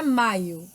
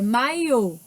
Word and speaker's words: maiô: Você, japonês, TV, metrô, chinês, céu, inglês, silêncio, maiô, não é maio, é maiô, pássaro, também, tênis, amém, buquê, café, pétala, sofá, âncora, chapéu.